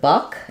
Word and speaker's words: buck: a follow-up question about book rhyming with buck and that's actually not true um so Buck has the uh vowel like in such fun um and book has